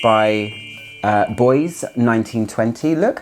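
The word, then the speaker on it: Bois 1920: saying Oro Bianco by Boys 1920 if you're gonna sit there and say it should be Boise 1920. it's not the case it's actually pronounced boys 1920 because of the it's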